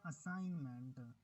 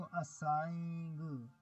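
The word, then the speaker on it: assignment: I have done my असाइनमेंट, और इसमें देखें दी, ये जो जी है इसकी साउंड नहीं आई, ये साइलेंट है, इसको असाइंग, ये इस तरह तो नहीं पढ़ेंगे, हम इसको पढ़ेंगे असाइन, असाइनमेंट, ठीक हो गया।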